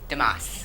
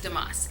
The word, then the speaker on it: DeMoss: how do you say your last name damascus damascus okay so this is she is